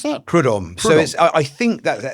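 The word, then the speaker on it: Prud'homme: How do you pronounce that? Prudhomme.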